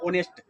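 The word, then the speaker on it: honest: ऑनेस्ट मैन है तो आप ऑनेस्ट को लिखिएगा, हालांकि ये होनेस्ट लिखा हुआ है, लेकिन पढ़ते हैं इसको हम ऑनेस्ट।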